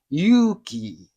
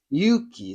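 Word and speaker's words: 勇気: But if you pronounce a longer vowels, like have a u sound, the longer u sound is Yuki. Yuki, that's courage.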